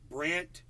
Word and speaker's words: Brandt: Brant Robinson. And Brant is spelled BRANDT. It's a weird spelling, Brant.